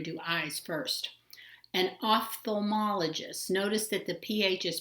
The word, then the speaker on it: ophthalmologist: called we're going to do eyes first an ophthalmologist notice that the ph is pronounced um like at the letter f it's